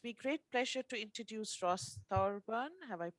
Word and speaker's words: Ross Thorburn: so it gives me great pleasure to introduce ross thorburn have i pronounced your writing you did congratulations thank you